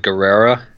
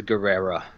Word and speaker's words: Guevara: one that was rumored I actually think you pronounced the vse you so like like Guerrera okay I could be wrong he may pronounce the V but I think that's like the Roman the Roman way of doing it even though I know